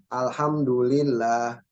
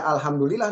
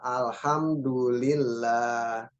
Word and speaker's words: alhamdulillah: Alhamdulillah. Di antara lafaz Allah itu berarti ada apa namanya? Matnya ya. Jadi jangan baca alhamdulillah nih, tapi apa? Alhamdulillah. Bedanya apa? Di terakhirnya itu ada matnya ya.